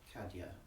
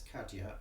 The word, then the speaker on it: Kadhja: a look okay okay looks like NPR got something uh pronounced kadya okay oh thank you very much all right I can monitor the chat I suppose okay here we go right yeah it's kadia I haven't come across